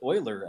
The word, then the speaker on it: Euler: uh leonhard euler you're on the stage it's pronounced euler actually euler yes is this mr euler from